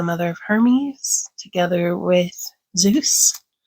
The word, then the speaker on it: Zeus: of hermes together with zeus or zephs if you like the modern greek pronunciation and then this one